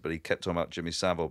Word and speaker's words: Jimmy Savile: he kept talking about Jimmy Savile, but he just kept pronouncing it Seville. Really, yeah, yeah. Like, he's not an old vaudeville fucking act. Yeah, Jimmy Seville.